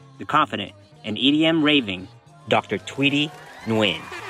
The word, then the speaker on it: Thuydy: So, your name is Tweety, right? Yeah. I'm saying it right, Tweety. Yeah. I thought it was Toty for a second. Okay. Yeah, that's what the Americans call me.